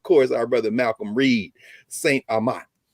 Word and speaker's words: St. Amant: our brother Malcolm Reed, St. Amant. Anyway, I say it right. Did I say it right? You got it.